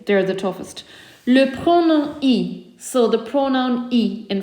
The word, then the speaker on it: y: Le pronom I. So the pronoun I in French, it's pronounced like an E.